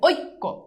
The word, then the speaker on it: ঐক্য: র রসিক তৈয় রসুকার ঐ যদি থাকে তাইলে ঐ এর উচ্চারণ হবে ও রসই ও রসই ও রসই যেমন দেখো ঐক্য এই যে দেখো উচ্চারণ কি হইছে ও রসই দেখো এই যে ঐক্য ও রসই বুঝছো তেমনিভাবে যদি দেখো